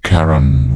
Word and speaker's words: Charon: Karen pronounced Karen was the fairyman.